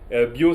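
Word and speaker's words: biau: Bio, ça s'écrit B-I-A-U, c'est bio chez Normand.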